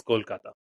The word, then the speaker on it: Kolkata: it exactly say so the right way to say it in Bengali is Kolkata Kolkata okay good okay